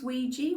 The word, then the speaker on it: Ouija: First of all, the way we pronounce Ouija, when it's a combination of the two words for yes in French and German, isn't quite correct, but